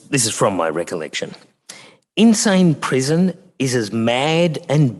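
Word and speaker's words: Insein: in yangang gon um it's spelled different than the insane that we're used to but uh the sound is relevant I think so if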